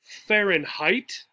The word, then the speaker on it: Fahrenheit: That's how you say it, Fahrenheit.